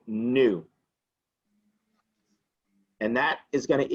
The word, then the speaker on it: nu: equals frequency and it's it's pronounced well it's pronounced new and it's spelled in you new okay h